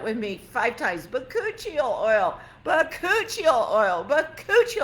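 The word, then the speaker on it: bakuchiol: say this key ingredient the key ingredient is vacuole oil how do you spell that b-a-k-u-c-h-i-o-l but cuccio oil everybody say that with me five times but kuchil oil but Couture oil but Couture oil three's enough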